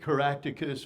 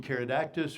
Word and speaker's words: Caractacus: Claudia, the daughter of Caractacus, or depending on which spelling or pronunciation, Caradactus or Caractacus. I tend to have a preference for Caradactus, but Caractacus seems to be the more common spelling and reference on that, so I used it on this.